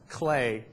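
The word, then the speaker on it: CLEF: this cross language retrieval it's called clay CLE F which is how you pronounce it in French cross language evaluation forum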